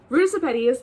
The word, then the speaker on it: Ruta Sepetys: Ruta Sepetys, this is Out of the Easy, which is her second book.